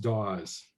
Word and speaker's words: Dawes: It's pronounced Dawes. Oh, okay. Dawes. So in the French way, it's Phil Dawes.